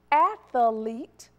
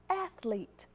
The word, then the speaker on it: athlete: which one is correct the second word is correct but a lot of times you will hear people say athlete you're adding that extra e sound in there no it's a-t-h-l-e-t-e okay moving on how